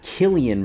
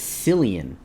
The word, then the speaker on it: Cillian: said his name wrong it's not Killian Murphy it's Cillian no it's it's not